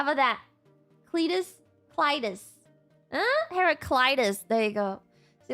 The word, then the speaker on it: Heraclitus: Heraclitus.